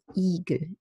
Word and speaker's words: Igel: It's a flat static vowel with tension in the palatal muscles. It's not a relaxed sound as English green. Igel, Igel.